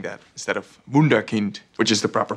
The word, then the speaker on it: Wunderkind: Pronounced Cruyff. Oh, okay, Englishman. Wunderkind. And because of you saying that instead of Wunderkind, which is the proper pronunciation.